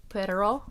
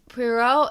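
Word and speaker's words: Poirot: Um, our director or not director, detective, um, Hercule Pero, I think is how you say it, uh, is played by Kenneth Brana aka the director.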